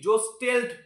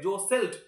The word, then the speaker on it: jostled: দে জোসেল্ট, দেখো এখানে JOSTLED, জোস্টেল্ট এটা কিন্তু বলবো না, এটার উচ্চারণ হবে জোসেল্ট, মানে ঠেলাঠেলি করা, ধাক্কাধাক্কি করা।